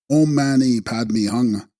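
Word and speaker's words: om mani padme hum: These are of the essence mantra of Shanrazi abalotesh being omi padmi whom pronounced ommani padmi hung.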